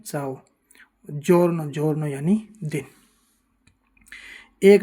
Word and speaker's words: ciao: जैसे दो उदाहरण देखते हैं, CIAO, चाओ, चाओ यानी हेलो या नमस्ते, इसको हम चियाओ नहीं बोलते, क्या बोलते हैं? चाओ।